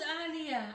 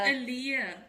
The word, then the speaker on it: Aaliyah: Oh no, her her name name was was Aliyah. Aliyah. No, her name is Aaliyah. Aaliyah. American pronunciation.